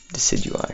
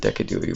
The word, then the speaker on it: Decidueye: Decadewey. Decidueye. I remember when people pronounced it Decadewey when it was first released.